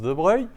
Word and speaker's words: De Broglie: En considérant la dualité onde-corpuscule, en déduire la longueur d'onde de De Broglie. Alors, je vous rappelle que De Broglie, hein, ça s'écrit De Broglie, mais ça se prononce De Broglie.